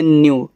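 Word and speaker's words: new: आगे है एन ई डब्लू देखो जिसके बाद ई डब्ल्यू लगा हो उसकी हिंदी जो बनेगी यानी कि जब उसका उच्चारण करोगे आधा करना। बाकी ई डब्ल्यू को आप ऐसे यू कहना। तो एन ई डब्ल्यू आपका हो जाएगा न्यू।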